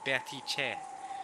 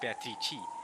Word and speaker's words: Beatrice: I've just recently learned wasn't completely wrong, just needed a bit of a correction with the at the end, Beatrice, not Beatrice.